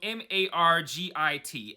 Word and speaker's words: Margit: It's an Italian name that's pronounced Margit, so I'm just going to call her that from now on.